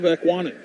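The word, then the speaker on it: Ekwonu: And I want to know what's wrong with my pronunciation of Ekwanen. No, you just nailed it. Did I mess it up last time? You might have thrown a D in there.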